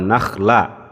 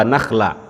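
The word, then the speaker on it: نَخْلًا: Tadi saya dengar ada ayat wa zaituna wa nakhla, itu pakai kho atau pakai ha? Pakai kho ya, tapi tadi saya dengar Nabil bacanya pakai ha ya.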